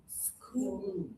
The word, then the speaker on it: school: School. Yeah, which category for school? Suit. Suit, good job. Not floor, even though it has a double O. This one is ooh. So this one goes with suit.